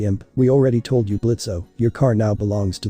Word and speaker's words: Blitzo: Okay, first of all, it's Blitz. The O is silent Second, that's a stupid name.